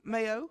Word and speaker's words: Mayo: But I saw that when we checked in there, Jeffrey Mayo, is that how you pronounce his last name? Mayo.